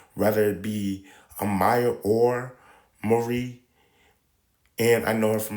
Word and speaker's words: Mari: But how they pronounce it in DC is actually Mari. Her name is actually Mari McCabe.